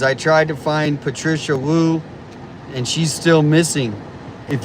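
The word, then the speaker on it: Woo: Patricia Wu. It's spelled W-O-O. Patricia W-O-O. Wu.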